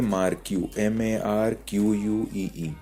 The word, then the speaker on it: marquee: तो हम लोग यहाँ पर डाल देंगे मार्क्यू, MARQUEE। मार्क्यू का स्पेलिंग ये होता है मार्क्यू, और ये टैग भी क्लोज होता है।